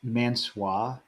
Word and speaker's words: Mansoor: It's Mansoor, please. Honestly did. I said Mansoor because I didn't know how to pronounce Mansoor, and is it Marseille?